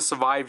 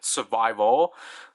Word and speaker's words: Survive: I think I used to say survive wrong, because I think I actually used to say like survival. So like I used to pronounce it as like Ryuki survival and then night survival, and then I got heavily criticized for that.